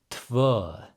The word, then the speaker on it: tvö: So TV, pretty straightforward. The umlaut, you can imagine like a UH in English. When I was learning Icelandic, they told me it's like when you get punched in the stomach, that sound you would make.